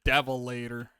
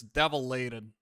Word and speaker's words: Devilated: Devilator. If I can spell that correctly, which I apparently can't. No. Devilated. Why do I keep calling it Devilator? It's Devilated. All right.